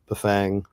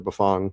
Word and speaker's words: Bafang: one we went to buang or buffong depending how you pronounce it um to their